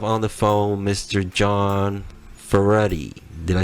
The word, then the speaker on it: Ferretti: John for ready did I say that right now you got